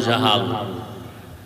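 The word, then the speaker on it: جهل: এইমাত্র তো বললাম আবু জাহল, জেহেল না জাহাল, নাম হলো ইমাম গজালি। বলে গজ্জালি না, গজালি বিশুদ্ধ উচ্চারণ, গজ্জালি না।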